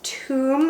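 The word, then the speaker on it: toum: pasta alfredo and i made it using this tomb lebanese garlic dip i don't know if you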